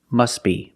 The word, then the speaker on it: must be: But if you link the words, you pronounce it must be, must be.